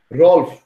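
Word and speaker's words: Ralph: রলফ, ঠিক আছে? ওই যে রেড লিফ কলম ছিল না আগে, রেড লিফ, রলফ উচ্চারণটা খেয়াল রাখবা।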